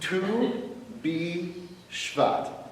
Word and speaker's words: Tu B'Shvat: I have to be able to pronounce it. Tu B'Shvat.